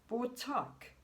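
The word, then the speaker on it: בָּטַח: So the word trust is the word botak. Probably mispronounced, but it's spelled B-A-T-A with a little thing on the A, a little cap on top of the A, C-H.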